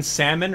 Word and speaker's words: salmon: fish right the golden salmon remember that the golden salmon for those of you guys that pronounce salmon with the l just to trigger people the golden trout yeah